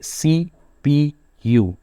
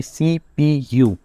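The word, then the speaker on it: CPU: जैसे की एग्जांपल है सीपीयू तो हम इसको जो है वो अलग प्रोनाउंस कर रहे हैं इसको सीपू नहीं पढ़े इसको हम पढ़े सीपीयू यानी सेंट्रल प्रोसेसिंग यूनिट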